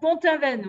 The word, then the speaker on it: Pont-Aven: Pont-Aven, je ne sais pas Ah, comment vous le prononcez. Pont-Aven, oui, Pont-Aven.